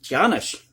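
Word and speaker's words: Taíno: of puerto rico and he used the native giannis tribe that's how you pronounce it for labor but because of the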